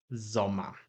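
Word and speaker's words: Sommer: Tak jak powiedziałem, wszystkie pory roku mają te same rodzajniki, czyli będzie dea i lato jest zoma. Znowu końcówka er wymawiana bardziej jako a i gotowe zdanie.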